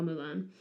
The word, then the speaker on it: Mulan: her name okay um so it should be pronounced H I think but in cantones pron far so should be far Mulan um but uh h means flower and ping